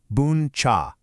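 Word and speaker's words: bún chả: This is boncha, pronounced booncha.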